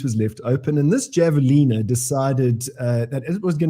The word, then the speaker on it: javelina: One of Parallel Parking says it's pronounced Javelina, but...